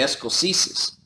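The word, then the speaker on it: Escoceses: Spells like it sounds, Escoeses, the Escoeses.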